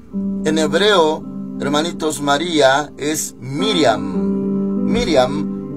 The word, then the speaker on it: Miriam: los judíos y en hebreo hermanitos María es Miriam Miriam y nosotros lo pronunciamos Ya se nos traduce en español como María pero en hebreo es Miriam Bueno entonces de paso se menciona que sí